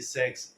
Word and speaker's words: Sachs: इनका नाम है जेफरी सैक्स, जैसा मैंने पहले बताया, SACHS। जेफरी का आप लोग स्पेलिंग समझ ही लेंगे, JE लिखिए, FFREY, जेफरी सैक्स, SACHS।